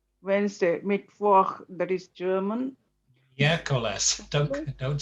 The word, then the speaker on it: miércoles: And there's an accent on miércoles. There's a stress on the first syllable, miércoles, and on the same on Saturday.